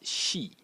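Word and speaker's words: 休: is written like this, and it is pronounced she, like this, and it means to rest.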